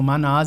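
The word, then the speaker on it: Mannaz: runa antiga chamada Manás, que se escreve M-A-N-N-A-Z. que se pronuncia assim mesmo, Manás, e tem a ver com coletividade, com trabalho...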